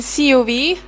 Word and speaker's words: COV: We are the team COV, in Estonian pronunciation CUV, and it's short for Sea Cables Monitoring Underwater Vehicles.